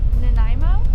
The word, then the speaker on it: Nanaimo: put the name right here i think you pronounce it sawason and we're going to be landing at i believe it's called nanaimo it's not as scenic as i was uh